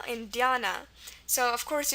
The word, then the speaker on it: Dhyana: So of course, if you have the Ya sound, it's just going to be YA, as we've seen here and here, so we have that in here too. So we have our YA, again our A for the A sound, and then this is a very normal ending, as you've seen already in the word sadhana. N is normal, and our A for the schwa at the end. So that's Dhyana.